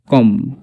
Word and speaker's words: comb: এরকমভাবে COMB কম, থাম।